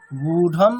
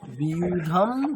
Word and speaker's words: व्यूढं: আচ্ছা দেখুন ওখানে কি আছে, ব এবং ইয়া, যুক্তাক্ষর আছে না, তাহলে ওটার কি হুম উচ্চারণ কিরকম হবে? বিয়া। যদি কেবলমাত্র অকার থাকে তাহলে কি হবে? বিয়া। উকার আছে মানে বিউ। ঠিক আছে, আচ্ছা বিয়া, বিয়া, বি, বিউ। তাহলে বিউধম দুর্যোধনস্তদা।